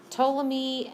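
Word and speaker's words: Ptolemy: locations um toy remember the p is silent toam me um violated the keep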